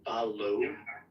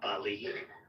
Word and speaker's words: Bally: pronounced like Ballo, not Bali. So it's like Ballymena.